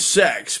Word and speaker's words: CeX: have a store called it's called Sex, but it's spelled C E X.